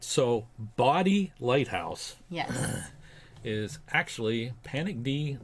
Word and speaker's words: Bodie: In this video we are going to tell you about Bo Body Island. I was going to say Bodie. It's actually pronounced body.